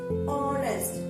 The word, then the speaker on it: honest: It begins with a consonant letter H, but the H is silent. We pronounce it as honest.